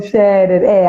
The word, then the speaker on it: Scherer: Eu fiquei até com medo de falar e errar a pronunciação. Não, Scherer.